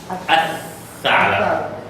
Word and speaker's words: الثعلب: Al-tha'lab. الثعلب. So remember that when it belongs to a shams, we duplicate the letter after the lam and we don't pronounce the lam.